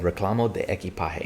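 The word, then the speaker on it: reclamo de equipaje: i remember going what ali how do you pronounce that he goes i was like the what and he said reclamo de eki pahe it means baggage claim i was like oh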